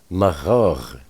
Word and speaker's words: Magog: There's at least 60 million Muslims residing in Lower Russia, and that would be Magog, or Magog, to pronounce it properly.